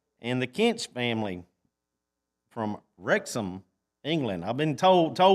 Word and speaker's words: Wrexham: the Kent's family from wrexham England I've been told toe was told this morning that I've been saying it wrong so that there's not it's not Rex ham it's rexham wrexham England so no but